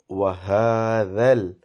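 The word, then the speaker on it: هذا: So the thing to remember about this one is dhal. As I mentioned previously, dhal should be pronounced with your tongue touching your top teeth very lightly, and then you pronounce dhal, so it becomes a soft sound.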